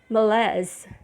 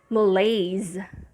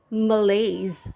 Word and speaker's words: malaise: english pronunciation is malaise malays so the first syllable is i mean the vowel sound on the first syllable is a schwa and on the main stress which is the second syllable it's lays and remember when s